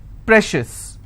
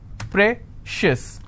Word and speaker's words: precious: corn con schis okay precious how many syllables again precious i will stress on pray same thing applies for